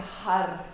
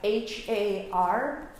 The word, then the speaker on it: har: And with that, we make a har, H-A-R, har.